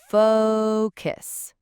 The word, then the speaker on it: focus: The key here is to really make that O sound long and clear, almost like the O in the word go or no. It's that diphthong, that long O sound. Focus. Yeah, think of it as faux, like FOH, and then cuss. So it's focus. You need to stretch that O.